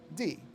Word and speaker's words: Mari Lwyd: Marilwyd. That's the character's name and correct spelling. Now, here's how this is pronounced. Okay. This part is pronounced Mari Lwyd. That's how it's pronounced.